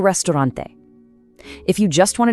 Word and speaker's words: restaurante: Listen to that crisp E at the end and roll that R, El Restaurante.